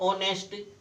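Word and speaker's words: honest: an apple N orange an ऑनेस्ट A silent है और ओ इसकी वाल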